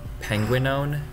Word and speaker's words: Penguinone: It's pronounced Penguinone, like penguin.